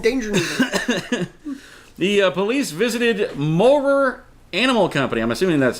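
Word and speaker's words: Mowrer: The police visited Morer Animal Company. I'm assuming that's how that's pronounced. I don't even think that's even... Morer, M-O-W-R-E-R.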